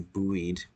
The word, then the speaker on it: buoyed: a steadily aesthetic was buoyed up obviously I'm saying that word with my own reflection but the proper way to say it is buoyed but Victoria was buoyed